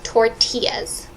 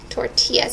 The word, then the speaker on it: tortilla: Yes, and just one note, the third line, the burritos are large flour tortillas. Tortillas. Tortillas. It's a Spanish word. So you don't pronounce the L, it's just tortilla.